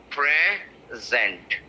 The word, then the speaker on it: present: pressurizing this this one so when you pronounce this word it will be present present so pray is going up and zen is slow right look at me